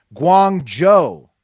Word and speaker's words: Guangzhou: first up a little fact check Friday it's pronounced Guangzhou the city uh in China near Hong Kong